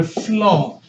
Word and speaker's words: phloem: This tube name is called the phloem. P-H-L-O-E-M. You combine the P and H and pronounce it as an F, so you just say phloem.